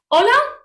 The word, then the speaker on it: hola: different words okay but the pronunciation of these two words is exactly the same hola and hola so as